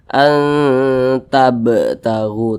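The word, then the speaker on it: تَبْتَغُوا: Kalau dia sukun, cara bacanya dipantulkan. Jadi mantul. Tabtagu, tab begitu, tab.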